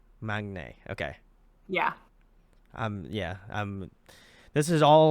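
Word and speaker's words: 막내: he's the Maknae, Yeah. I guess, right? I don't know. Yeah, I think it's pronounced more like Magne. Maknae.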